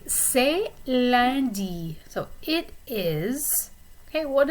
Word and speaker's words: lundi: So lundi is Monday. Notice the way the vowel is pronounced in the middle. U and N is a nasal vowel and it sounds like lundi.